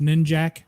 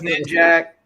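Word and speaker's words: Ninjak: that as official gospel that is not pronounced ninja uh it is knit jack but see that's when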